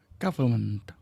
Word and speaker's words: government: repair the burst pipe government government เป็นคำ silent n n หลัง r ในคำนี้ไม่ออกเสียงจึงเป็น government government the government is announcing